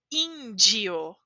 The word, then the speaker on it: índio: Pensem como se diz essa palavra. Índio, certo? Porque temos DI. DI sempre de. Índio.